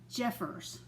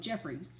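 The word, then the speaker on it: Jeffress: um it's dr uh robert jeffers is how he pronounces it jeffers but i think a lot of us around here call him jeffries but he pronounces it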